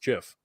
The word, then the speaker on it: GIF: did you know that the actual creator of the format says it's supposed to be pronounced Jif yeah but you have